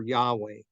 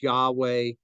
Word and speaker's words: Yahweh: It goes on, says the exact pronunciation of Yahweh is unknown, but many today favor Yahweh.